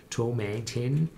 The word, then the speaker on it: Tomatin: rhymes itself on satin so if you don't know how to pronounce tomatine think about saturn that is tomatin that's the right pronunciation and so they call